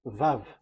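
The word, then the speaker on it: ו: So the way we read it is VAV. So we wrote it as Vav. We called it as Vav. Vav. Your claw, your mouth is like closed. Vav. So it's V as in Vogue. So it's really V.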